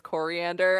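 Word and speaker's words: Koriand'r: she is from tamaran her name is pronounced like coriander it's starfire i love i love the when people realize her name is coriander and uh her sister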